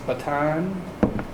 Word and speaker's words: Bataan: He has a maritime experience aboard three naval vessels, the USS Blue Ridge, USS Bataan, pronounce that right?